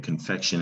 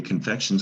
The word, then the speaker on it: confection: have your attention now confection that t-i-n you got to know it when you see it it's not spelled the way it's looks it's pronounced shun but it's a t-i-o-n very tricky shun confection is a